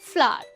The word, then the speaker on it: flour: दोस्तों FLOUR फ्लावर, आज तक कई सारे लोग इसे फ्लोर पढ़ते हैं बिकॉज इसे लिखा इस तरह से जाता है, लेकिन रियल में इसकी प्रोनाउंसिएशन भी FLOWER फ्लावर की तरह ही होती है।